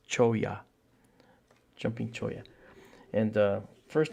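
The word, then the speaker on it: cholla: a jumping choya so the double L's pronounced like a y so it's choya jumping choya and uh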